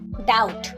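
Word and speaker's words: doubt: ডাউট। এই ওয়ার্ডটিতে বি লেটারটা silent থাকে।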